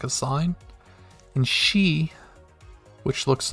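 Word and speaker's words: し: first kana exception so it doesn't follow the e pattern it still ends with e but it's pronounced she instead of c g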